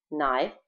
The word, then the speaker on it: knife: Knife, ножик, кей здесь не читается.